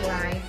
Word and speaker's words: leid: Genau, EI dibaca itu I ya. Es tut mir leid.